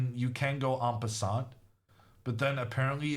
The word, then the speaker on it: en passant: This T is silent, someone said. En passant. En passant. Un vin. Un bon vin blanc. Un bon vin blanc. En passant. The irony is that I'm getting it right.